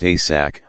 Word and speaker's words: ASAC: I gave my memo to our ASAC, pronounced ASAC, or assistant special agent in charge, Tom Nally.